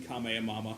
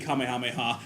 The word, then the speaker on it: Kamehameha: Nothing beats the the the Fortnite let's player mispronouncing Kame Mama. I mean Kamehameha.